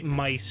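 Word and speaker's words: Meis: play as this guy mice who is a spirit blacksmith mice mice m-e-i-s not it sounds exactly like it's spelled uh so um the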